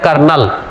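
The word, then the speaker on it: colonel: है important word है कर्नल कर्नल की स्पेलिंग कई बार एग्जाम में पूछी जा सकती है तो इसमें आर नहीं होता है कोलोनल पढ़ना आपको तो कोलोनल से याद रखेंगे कर्नल एग्जाम में आ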